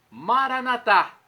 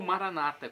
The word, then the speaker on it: Maranatá: E agora do aramaico, dialeto de Jesus, eu clamo: Maranatá! Vinde, Senhor Jesus. Ou Maranata, como dizem nossos irmãos separados, os evangélicos ou protestantes. Não importa a pronúncia, Maranata ou Maranatá, significa vinde, Senhor Jesus, vem, Senhor.